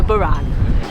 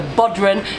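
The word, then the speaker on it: bodhrán: for yourself on the side this is the Buran the baram is named after an Irish musical instrument I always used to get the pronunciation of this wrong I was calling it The bodran for years I did get told off online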